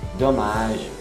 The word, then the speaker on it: dommage: E o Vincent termina esse diálogo, explicação da foto da família, falando dommage, até o G, um G mais, um pouquinho mais longo, sem pronunciar o E, dommage.